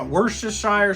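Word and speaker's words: Worcestershire: what your sire sauce how do you say it wor the sheer worst the sheer sauce that my wor the Shire sauce sounds okay how much of wor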